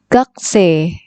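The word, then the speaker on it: 学生: atau siswa Gotze kekesih tulisannya memang gakusei gakusei Tapi bacanya punya ini tidak terbaca kemudian Ibi belakang terbaca e-jade nya ini panjang c jadi gak C murid atau siswa yogs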